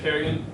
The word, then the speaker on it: Carignan: I pronounce it Carignan, but pronouncing it wrong. I assumed back in the day it was Carignan. Well, it's French.